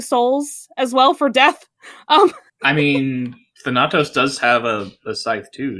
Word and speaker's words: Thanatos: It's AE as in bad. So Thanatos.